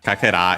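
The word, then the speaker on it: 欠片: Uh star piece piece of star uh yeah kaka is actually fragment piece and so on and accented uh so yeah literally uh a fragment piece of uh I'd say uh health.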